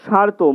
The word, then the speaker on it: স্মার্ত: তারপরে স্তূপীকৃত, স্মৃতি স্মার্ত, এটার বানানটা দেখো, স্বয়ময় আকার তয়রেপ। স্মার্ত আমরা লিখছি কিন্তু আমরা উচ্চারণ করব স্মার্ত, মটা লুপ্ত ম। তারপরে রক্ষণীয়, মানবিক, হৃদয় হার্দ,